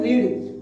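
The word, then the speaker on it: read: तो इसकी first form तो होती है रीड, लेकिन जो सेकंड फॉर्म और थर्ड फॉर्म होती है स्पेलिंग तो सेम होती है, लेकिन उसको क्या बोलते हैं, सेकंड फॉर्म को रेड एंड रेड, first form रीड, second form रेड, third form रेड, रीड रेड रेड, इस तरीके से बोलते हैं।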